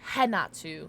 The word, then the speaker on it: Renato: R-E-N-A-T-O, but, the pronunciation's different. But, there's no way that you could have figured out how I was spelling, or how you just spell it from how I'm saying it. Which is, like how English said, in Brazilian, R's are pronounced as H. So it's Hinata, but it's spelled phonetically, like, with an R.